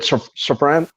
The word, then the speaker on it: Safran: Is it Safran? Did I say it right? Saffron, I think. Yeah. Close enough.